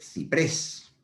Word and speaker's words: ciprés: Y tendríamos el ejemplo de ciprés. Veis que ciprés es una palabra aguda que acaba en S. Ciprés tiene la sílaba tónica en la última sílaba.